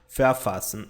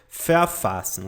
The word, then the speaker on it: verfassen: Verfassen. E a pronúncia dele é mais ou menos assim, ó. Verfassen, tá? Verfassen. A letra V tem som de F.